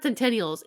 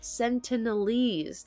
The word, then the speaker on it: Sentinelese: can never say it it's not centennials it looks like Centennial but it isn't it's sentinelese that's how you say it so yeah so